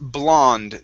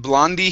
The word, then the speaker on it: blonde: One is And it would be pronounced blonde. The E at the end is silent. So instead of blondy hair, it's blonde hair.